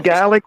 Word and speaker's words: Gallic: is it a Gallic war or a Gaelic war? Gallic. Gallic War, Gaelic War, Gallic. same thing. You can pronounce it whichever way, but It it sounds is like saying garlic.